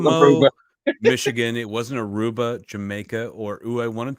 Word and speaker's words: Aruba: don't even know that aruba rhymes with tuba i don't even never